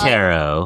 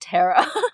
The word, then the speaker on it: taro: still good this is tarot oh you I can't believe you pronounce it Tara I say Taro too is it Taro it's taro it's not tarot chips I always say tarot